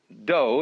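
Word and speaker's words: dō: the science of Judo doe is the way the Japanese pronounce Dao ju means gentle Judo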